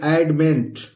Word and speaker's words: adamant: ए से ए हो गया, और डी से ड, और MANT, मांट नहीं पढ़ेंगे, इसको पढ़ेंगे एडमेंट।